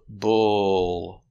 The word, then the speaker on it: bull: that is a bull the sound uh bull the L is a dark L after this sound so the sound is in the back not but bull bull